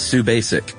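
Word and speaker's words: Subasic: Pronounce Sue Basic.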